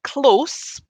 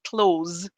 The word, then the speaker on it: close: when the fire was close the authorities had to close the road okay so we have a s in the first one and a z in the second one yeah when the fire